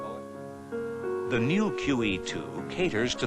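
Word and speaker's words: Moët: Moet is a Dutch name, and with proper names, the rules do not apply, so it is properly pronounced Moet.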